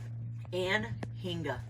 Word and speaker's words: anhinga: How do you pronounce his name again? Anhinga.